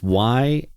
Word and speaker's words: Yahoo Falls: It's Yahoo. Yeah, it's pronounced just like the search engine, or it's spelled just like the search engine.